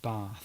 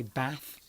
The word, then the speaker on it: bath: You can say bath or you can say bath. Yes. There's no R in it, but the A can be pronounced in two.